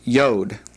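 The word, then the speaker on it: יוד: The 10th letter in the Hebrew alphabet is yod. This is a definite y sound. It is the smallest of the the Hebrew alphabet. And you may have heard about the the yode, the the small letter.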